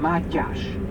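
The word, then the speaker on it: Mátyás: the name of mathias in hungarian we call him Matt gosh my gosh so in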